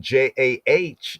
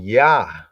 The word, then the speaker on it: Jah: In German, the J is pronounced as a Y sound. So that means that then when they translated JAH, they were not saying Ja, they were saying Ya.